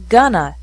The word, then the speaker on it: going to: an hour remember that in spoken english going to is often pronounced gonna so these sentences would be pronounced on my next vacation i'm gonna stay in a nice hotel we're gonna get married in september